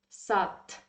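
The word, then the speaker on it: сад: we pronounce it like because in russian language um if you see the in the end of the word any word it should be pronounced like sat okay i hope you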